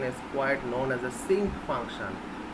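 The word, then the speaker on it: sinc: the same but the sink and cyanum are quite different parts this think function is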